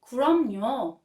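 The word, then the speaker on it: 그럼요: or of course and it's pronounced kromnyo that means exactly or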